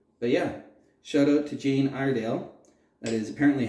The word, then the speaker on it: Jane Iredale: But yeah, shout out to Jane Iredale.